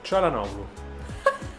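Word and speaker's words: Çalhanoğlu: Per esempio, come si pronuncia Calhanoglu? Calhanoglu.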